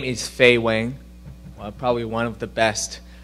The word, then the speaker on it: Fei Weng: the best right so um my name is feay Wang probably one of the best you know easiest Chinese name you can ever pronounce so a two-time gator uh am from